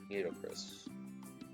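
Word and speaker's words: Nitocris: How do I pronounce it? Nito or Naito? Chris. Naito Chris? Nito Chris. Alright. How I saw a far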